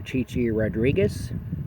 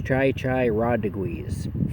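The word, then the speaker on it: Chi Chi Rodríguez: He would refer to the tennis player Chichi Rodriguez as Chai Chai Rodriguez, just to give you an idea.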